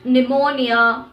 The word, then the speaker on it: pneumonia: churches the letter p the letter p is usually silent in letter combinations of pt pn and ps at the beginning of the word psychology psychiatrist pneumonia the letter r fortunately is